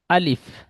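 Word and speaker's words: ألف: আলিফ। আলিফ একটুও টান হবে না। জলদি বলতে হবে। আলিফ।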